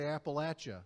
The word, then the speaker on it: Appalachia: correct way to say appalachia so he said you throw an apple at you i'll never and uh